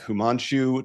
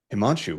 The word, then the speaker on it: Himanshu: actually, yeah, it's simpler than it looks.